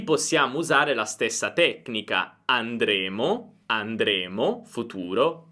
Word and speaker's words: andremo: Infatti, se io dico noi andremo, significa che noi andremo nel futuro, invece noi andremmo è condizionale. Qui possiamo usare la stessa tecnica. Andremo, andremo, futuro, andremmo, andremmo, condizionale.